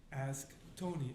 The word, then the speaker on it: Asktoni: Ask Tony.